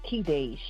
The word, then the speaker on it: Kedash: It's pronounced Kedash. Kedash. Yes. Kedash. Oh, wow. Okay. So I'm so used to all the other pronunciations, and I don't think anyone is technically wrong because it's a Middle Eastern name, so it's pronounced a lot of different ways.